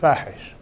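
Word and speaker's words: فاحش: ISIS, I call them, if you don't mind, fahish. In Arabic, it rhymes with Daesh, which is the Arabic name for ISIS. In Arabic, fahish means obscene, because I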